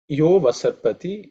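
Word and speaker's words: yo 'vasarpati: Yo vasarpati, here the avagraha is silent, it's a, but it's not sounded, okay?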